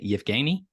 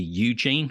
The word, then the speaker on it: Yevhenii: So it's spelled Yevhenii, and there's lots of variations, but that's kind of Yevgeny. It quite often gets anglicized to Eugene, which is to me a sort of horribly Americanized version.